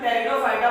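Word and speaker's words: Pteridophyta: Student, टेरिडो plant जो phyta होते हैं प्लांट स्टूडेंट, इसमें पी साइलेंट होता है, इसीलिए हम पी को नहीं बोलते हैं, इसीलिए हम टेरिडोफाइटा बोलते हैं।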